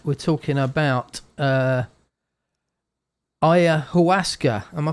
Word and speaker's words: Ayahuasca: We're talking about Ayahuasca. Am I pronouncing that correct?